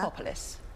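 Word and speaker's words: Krapopolis: Crapopolis.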